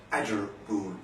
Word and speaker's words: Attergool: Sometimes spelled Addrigoole, sometimes spelled Addergoole. I prefer the Attergool pronunciation.